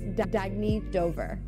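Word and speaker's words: Dagne Dover: Oh, it's pronounced Dagny Dover.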